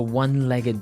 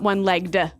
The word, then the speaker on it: one-legged: leg ah okay and the pronunciation here is important right onelegged not oneel legged no onelegged so you can say